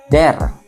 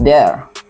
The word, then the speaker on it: there: Some people may say there. It's not there but there that this this weather weather